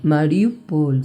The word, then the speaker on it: Mariupol: Mariupol, sí. Ahí está bien, como lo pronunciamos.